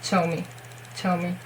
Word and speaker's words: Zhou Mi: It's between Ch and J, I think, Zhou Mi. I prefer it with Che, and I watched a lot of Super Junior and variety shows, so I, especially for that, to learn his name. And it wasn't Zhou Mi. It's definitely with Ch, okay, Zhou Mi, okay?